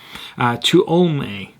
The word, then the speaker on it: Tuolumne: Central Valley, where those turkeys were culled in Tuolumne. That's her help for my pronunciation, so hopefully I got it right from that. Tuolumne.